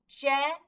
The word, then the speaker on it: gent: So we know it's a soft G because of that E. So we say j-e-n-t, gent, gent, all together, gent.